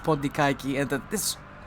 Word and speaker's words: Pontikaki: I kind of like at this point, even though in Greek it's pronounced Pondikaiki, and that this...